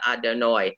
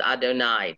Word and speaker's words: Adonai: you would see them the way we pronounce it if we're doing sephardicy was other nigh not adonoi adonoi is when we do that o sound that like for four rock instead of borrow so it's adonai just and you can